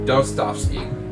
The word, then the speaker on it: Dostoevsky: I'm finally able to pronounce that name correctly. Dostoevsky.